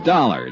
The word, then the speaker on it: Dollar: Buzz I didn't it's dollar Johnny Dollar dollar huh yeah rhymes with collar I always like to